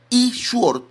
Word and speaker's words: E-Sword: discúlpeme mi inglés, pero ese E-Sword, que se pronuncia E-Sword, ese programa contiene, miren, más de 100 Biblias, muchos comentarios bíblicos, contiene diccionarios.